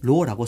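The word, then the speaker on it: ρ: 그래서 이 비저항을 기호로는 로라고 씁니다. 로. 그리스 문자인데 로, RHO라 적거든요. 로라고 읽어요.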